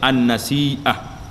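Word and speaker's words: النسيئة: Cara baca dianya an-nasi'ah.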